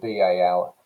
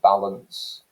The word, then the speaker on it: balance: similarly take the word b-a-l-a-n-c-e balance okay that second vowel sound again it's that the schwa sound an unstressed vowel sound and we pronounce it